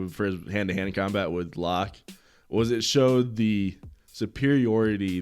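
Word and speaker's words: Locke: hand-to-hand cart hand-hit combat that's just lock that is how it's spelled but yeah no but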